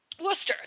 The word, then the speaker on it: Worcester: Anyways, so Worcester. That's Worcester. There is a town called Worcester.